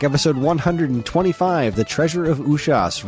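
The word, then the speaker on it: Usas: of the treasure of ushas that's right it's pronounced ushas according to uh banjo guyali because i asked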